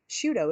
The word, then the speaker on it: Sciutto: you say his name i i you know shooto it is shootout thank you um i was